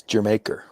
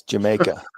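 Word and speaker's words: D'yer Mak'er: It's pronounced like the country. It's Jamaica. I don't speak I don't speak hillbilly. It's Jamaica because it's regular.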